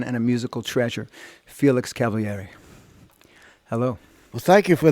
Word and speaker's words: Cavaliere: He pronounced it on TV Cavaliere because in Italian you pronounce all the vowels. However, in America, that's unheard of. So it's Cavaliere here.